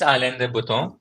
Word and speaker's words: Alain de Botton: I think it's Alain de Botton. I think it's the correct one.